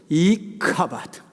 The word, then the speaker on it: 이가봇: 이가옷의 원래 발음은 이카바드.